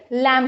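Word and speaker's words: lamb: में बताया था कि after M if there is द B sound B letter it इज not pronounce तो इट इज लैम ओके तो आप लोग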